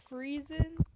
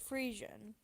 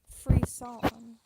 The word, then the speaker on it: Friesian: Why did I say it like that? Friesen? It's Friesian. Frisson. That's how Watermelon and me say it. It's a Frisson for y'all's information.